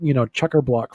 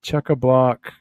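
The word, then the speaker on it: chockablock: when I went, and I tell people it's chucker block full. So if you look up I think it's chuck a block. It's the way you pronounce it. It is chuck a block.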